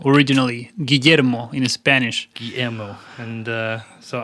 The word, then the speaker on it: Guillermo: So, you pronounce it for me again. It's Guillermo, originally. Guillermo in Spanish.